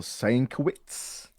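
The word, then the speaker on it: Sienkiewicz: by the way is his name is pronounced bill sankowitz my apologies and they really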